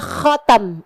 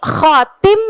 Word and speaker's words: khatam: Nah, stempel itu, makanya kenapa bahasanya stempel dalam bahasa Arab adalah khatam, yang juga adalah merupakan bahasa Arabnya cincin. Nabi Muhammad khatamul anbiya wal mursalin. Ini Nabi khatim, bacanya Ustazah apa? Khatam. Bacanya adalah khatam.